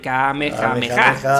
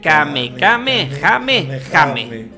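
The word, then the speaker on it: Kamehameha: el máximo poder muy atentos a como lo pronuncia muten roshi como Todos imaginaréis aquí tendría que decir Kame jame Ja sin embargo dice y ahora tengo que leerlo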